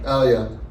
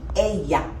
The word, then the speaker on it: ella: Elia. Elia. Okay, nice try. But in Spanish, when two L's are next to each other, they have a slight Y sound. So this word would be ella.